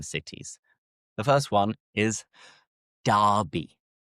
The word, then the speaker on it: Derby: The first one is Derby. Derby. And the same pronunciation is used for different competitive matches where two local teams face off and compete against each other.